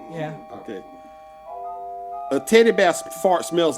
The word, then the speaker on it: pho: Fa is that's how you pronounce it. PHO is pronounced fa.